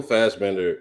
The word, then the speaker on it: Fassbender: Michael Fassbender is Fast.